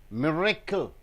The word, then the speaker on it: miracle: See, 3 beats are there. Miracle. Ga, ga, ga. Miracle. So being the noun, you have to stress on the first sound.